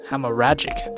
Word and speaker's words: hemorrhagic: up their whole pores hammer how do you pronounce it let's see him check hemorrhagic hemorrhagic that's how you pronounce it okay so basically